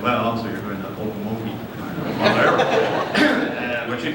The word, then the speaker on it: Okmulgee: And she said, well, the OK is pronounced oak, is an oak tree.